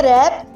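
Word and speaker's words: wrap: Next word है रैप। रैप में W silent होता है और इसका नेक्स्ट वर्ड है सेकंड लेटर आर।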